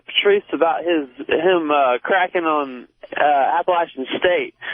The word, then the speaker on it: Appalachian: Yeah, I want to talk to Patrice about him cracking on Appalachian State. And it's not Appalachian, it's Appalachian. It don't matter.